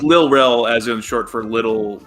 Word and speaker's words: Lil Rel: Like, so I hear Lil Ray or Lil Ray, it's like, oh no, it's spelled like this. I triple checked. Well, it's anyway, supposed to be. Continue. Sorry, it's Lil Rel, as in short for Little Daryl.